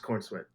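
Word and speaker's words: Corenswet: name is uh David Corn sweat is his name did you just say corn sweat that is his name like if you are eating corn and sweating like profusely MH like if corn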